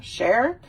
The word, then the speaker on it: Cher: of dumb back time cher not her but it's played by